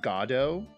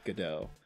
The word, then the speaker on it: Godot: uh uh but yeah according to him beckett uh he has he has specifically said that it is pronounced gado uh despite the fact that i feel like the more popular pronunciation has become godot so um yeah yeah i'm not gonna say goddo i think godot is a very it also just flows easier yeah it's great try